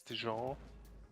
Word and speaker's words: Dijon: I'm actually pretty sure it's a soft J, so it's Dijon.